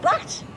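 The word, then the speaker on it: baht: It came from Thailand, as you very well know, and it cost me 500 bat. Yeah, rhymes with tap.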